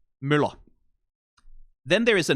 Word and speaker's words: Møller: Then there is a name, which is based on the profession of being a person who runs a mill, which is pronounced differently. Møller. Møller, Møller. Those are two different words.